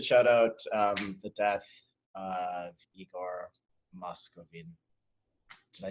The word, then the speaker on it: Igor Moskvin: Oh, also, we should shout out the death of Igor Moskvin. Did I say his name right? Yes. Yeah, Igor Moskvin, yes.